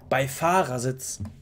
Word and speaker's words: Beifahrersitz: Auch wie er Beifahrersitz nicht, wie, nicht normal betont, Beifahrersitz, sondern die Betonung liegt nicht auf dem Bei, sondern eher auf dem Fahr. Beifahrersitz.